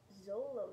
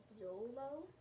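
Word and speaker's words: Xolo: dogs are a breed it's spelled x-o-l-o i think you pronounce it zolo like it's with a zed but i'm not sure and they're also known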